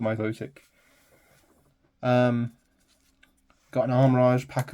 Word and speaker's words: Milotic: he is horsey and a myotic or Milotic I I've always called it myotic um got an armage